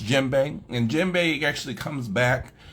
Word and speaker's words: djembe: uh there's a lot of people who say d JBE because they see the D in front and